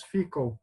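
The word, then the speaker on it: Fidchell: Outra prova, para ele mostrar que ele era nobre, existia um jogo de tabuleiro chamado Fickle, pronúncia mais ou menos Fickle, mas a escrita é Fidshell, né?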